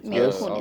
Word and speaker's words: Mila Kunis: That's how you say her name, Yes, Mila Kunis.